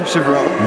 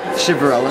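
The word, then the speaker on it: Chiverella: Chivarella. can you spell, N-I-K-O. it? And the last name? Chivarella. Spell it.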